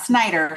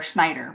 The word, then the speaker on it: Schnieder: And contestant number 6, Elyssa Schnieder. Did I say that right? Did That's I how get you pronounce Elisa's name. Yeah. Elyssa Schnieder? Mhm. Not Snyder, Schneider, right? With a schn.